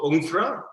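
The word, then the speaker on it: Jungfrau: can see on screen it is um pronounced as jay is silent um infra george um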